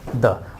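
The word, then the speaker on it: the: साथ आप लगाओगे आर्टिकल द, और एजुकेशन वर्ड इसके प्रोनाउंसिएशन के अकॉर्डिंग इस द फॉर्म पढ़ेंगे दी।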